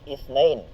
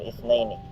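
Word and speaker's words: اثنين: Dito po sa ithnan, marami po ang nagkakamali dito. Minsan sa beginners, intermediate, or minsan kahit advanced, nagkakamali po sa pagbigkas sa kanya. Ano po ang sinasabi natin? Sinasabi natin ithnain. Naam.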